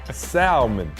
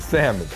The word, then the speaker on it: salmon: This guy literally said salmon when referring to salmon. Yes, salmon with an L.